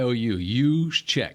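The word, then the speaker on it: Juszczyk: it you Che Ju no J in there the J like a y us check why don't they have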